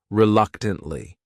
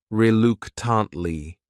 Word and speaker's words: reluctantly: The next word is reluctantly. This word has 4 syllables, and the stress is on that second syllable. That third syllable also has that schwa. Reluctantly.